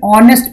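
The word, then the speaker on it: honest: को ऑनेस्ट मत पढ़िएगा इसका जो राइट प्रनंसीएशन यहां पे हा साइलेंट होता है या फिर ऑनेस्ट पढ़ा जाता है और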